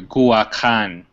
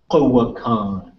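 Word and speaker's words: g̲uwakaan: Or Kuakan akjiwu. Okay, everybody repeat. Kuakan. Kuakan. Kuakan. Kuakan. Kuakan. Everybody want to spell it?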